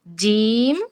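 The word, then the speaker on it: ج: এরপরে আসলাম আমরা জিহ্বার মাঝখানে, জিহ্বার মধ্যখান তার বরাবর উপরের তালুর সাথে লাগিয়ে ৩টি হরফ উচ্চারিত হয় জিম, শিন, ইয়া।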